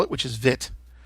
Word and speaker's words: Vite: spell it, which is Vite. Apparently the E is silent and it's short I.